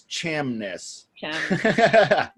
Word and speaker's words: Chamness: last name Jamis shamless shamness it's like it's like Loch Ness like the Loch Ness monster you have you heard of that yeah it's like the Loch Ness except it's Cham ness welcome to the podcast